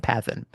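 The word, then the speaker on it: παθεῖν: Greek uh mathan uh is actually uh it rhymes with the verb for suffering pathn. Okay. So matan and pathan.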